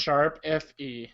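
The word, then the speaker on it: ♯FE: Sharp FE. Sharp FE? Okay. I know it has music involved, so it had to be Sharp and not pound or hashtag, because that would just sound stupid.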